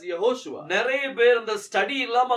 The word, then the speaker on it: Yehoshua: In English we say Jesus. ஆனா ஹீப்ருல வந்து அது யெகோஷுவா. But in Hebrew we call it as Yehoshua.